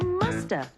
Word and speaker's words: must have been: say in conversation and sometimes we don't pronounce the v and so you hear musta she must have been